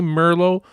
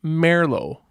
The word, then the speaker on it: Merlo: Believe it or not, it is common to say Merlo, but it is actually pronounced Merlo.